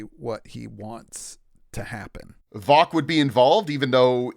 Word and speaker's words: Vock: Now, my gut instinct is telling me that Vox, is it? Maybe I'm saying it wrong. It's not, is it? Vock. V-O-C-K. Vock.